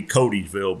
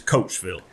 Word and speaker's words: Coatesville: It's spelled Coatesville. So looking at it, looks like it'd be Codysville, but it's Coatesville.